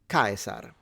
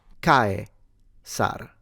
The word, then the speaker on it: Caesar: Well, this is pronounced Kaiser. Please correct me if you're German speaking. But the Latin name, even though it's very similar, would be Caesar. Caesar. So the S is a S sound, so not vocalized into a Z.